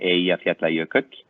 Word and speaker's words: Eyjafjallajökull: I've actually managed to impress some of the locals with my pronunciation of that volcano from 2010, Eyjafjallajökull.